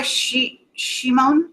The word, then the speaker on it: Shimon: Rabbi Shimon is how you say it.